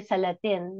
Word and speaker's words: Salatin: Joel uh yeah Sal we pronounce it here salatin but yes Salad he